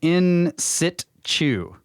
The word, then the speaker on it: in situ: In situ is in situ, but the T is almost silent, but not quite, and you say it kind of fast. In situ. Stay close to the earth, from David. In situ.